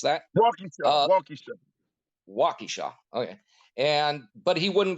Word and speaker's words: Waukesha: the victims of buffalo but wouldn't go to wakasha or wakisha i'm not sure how to pronounce that waukesha okay and but he wouldn't go there and